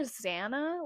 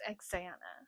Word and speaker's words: Xanna: I've learned I was calling her Zana, like Xanax, because it's spelled like Xanax without the X, but it's Xanna.